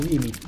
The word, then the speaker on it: gimmick: Bueno, ese era su gimmick. Gimmick, se dice. Pronuncia la última consonante.